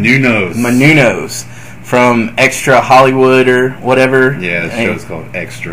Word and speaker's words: Menounos: It was Beth Phoenix and Eve Torres versus Kelly Kelly and Maria Munoz. Is that how you say her name? Menounos from Extra Hollywood or whatever.